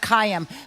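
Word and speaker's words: Kayem: It has only one Y. It's a it's like I think it's two Polish families. One starts with like Kai and the other one starts with like M and so there was like cayam.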